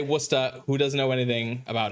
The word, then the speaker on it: Worcester: Yeah, it's spelled that that's pronounced Worcester or Worusta, I should say. Worusta.